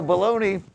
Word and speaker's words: bologna: So bologna, pony rhymes with bologna.